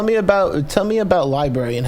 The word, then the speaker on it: LBRY: here and mention that while it's pronounced Library it's spelled lbr y we've dism vowed the word Library so it's Library lbr y the website